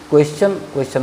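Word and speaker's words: question: क्वेश्चन मतलब प्रश्न। अब देखिए एस है और आई ओ एन है, ये जो टी है इसका उच्चारण यहाँ देखिए चौ हो गया है।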